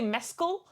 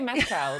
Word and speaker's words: Mescal: name name yeah like I've heard people say Mescal and Mescal I've heard all kinds of pronunciations from Irish people and non-irish people alike